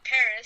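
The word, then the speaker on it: PVRIS: house and it's by a band called Paris spelled p v r i s they spell it the cool way according to them um and the reason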